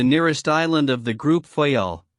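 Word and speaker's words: Fayal: Therefore, we steered for the nearest island of the group Fyel. The people there pronounced it fy and put the accent on the first syllable.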